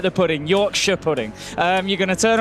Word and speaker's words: Yorkshire: Just like Shire, like Lancashire. I'm from Lancashire. Right. Lancashire. The North Americans tend to pronounce the Shire. That's more of a sh. Sure. So Lancashire. Yorkshire.